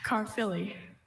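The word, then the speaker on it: Caerphilly: Carfilly. Carfilly is a mild white cheese of Welsh origin that is easily crumbled, pulverized, or reduced to powder. Carfilly. Carfilly.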